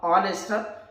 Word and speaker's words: honest: H is silent letter but pronounce A, honest, not honest.